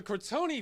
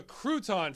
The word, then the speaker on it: Crouton: back up a minute so the cron Family actually it's the Crouton family because the narrator pronounced it earlier home of the